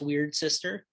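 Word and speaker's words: Wyrd Syster: the album is uh weird sister um it's spelled uh y r d s y s t e r but it's pronounced weird sister um and we're just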